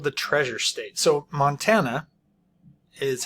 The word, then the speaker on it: Montana: the line Montana called the treasure state so Montana is how we pronounce it it's kind of funny here so